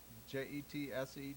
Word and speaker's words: Jetseta: Patrick White's argument that any trial in Council Bluffs would be an inconvenience for how do you pronounce her name? Jessica. Jetseta.